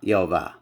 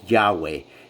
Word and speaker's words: Yahweh: YH y uh wh which people say Yahweh and I believe Yahweh was the incorrect uh vowel placement that was put on